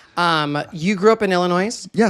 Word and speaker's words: Illinois: Um, you grew up in Illinois? Yes. Illinois. Yeah. Is it not? Is it not Illinois? Illinois. Illinois. Illinois. Some people say Illinois. Illinois. Illinois. S is silent.